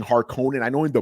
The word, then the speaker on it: Harkonnen: i know in the movie they say harkin in but i've read it as harkonnen so forgive me i'm just going to call it it's funny because the old movie too that's how they pronounced it yeah yeah so